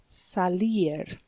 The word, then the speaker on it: salir: And to go out is salir, like sally forth.